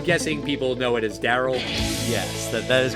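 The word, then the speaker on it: D.A.R.Y.L.: I'm guessing people know it as Daryl. Yes, that that is correct. That is the correct way to pronounce that film.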